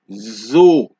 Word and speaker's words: oiseau: So whenever an S appears between two vowels, right, in a word, you get a Z sound. For example, you can see the S is placed between the I and the E. These are two vowels. So, for example, you hear cerise. Can you hear the Z sound? Cerise. Oiseau.